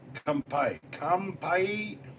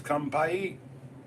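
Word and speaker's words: 乾杯: Kampai. What? Not kumpies. Kampai.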